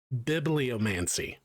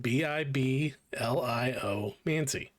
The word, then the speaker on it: bibliomancy: Bibliomancy. For a wizard. Bibliomancy? That's how you pronounce that. Biblio mancy.